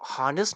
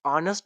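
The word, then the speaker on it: honest: इस्तेमाल करेंगे अच्छा स्टूडेंट इस वर्ड को हनेस नहीं पढ़ते ऑनेस्ट पढ़ते हैं ऑनेस्ट इसमें हमारे पास एच साइलेंट हैय हमारे पास बेसिकली साइलेंट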